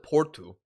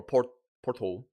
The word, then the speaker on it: Porto: Because even when I was with Porto, or Porto, sorry, I'm still learning the pronunciation.